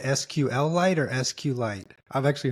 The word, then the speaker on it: SQLite: way you pronounce it I say SQL I like a mineral SQL that's the only